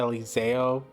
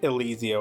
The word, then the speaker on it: Elizeo: This is uh Eliseo.